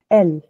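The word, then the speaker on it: elle: आता है ई एल एल E this is एल और इनका मतलब है शी ठीक है फिर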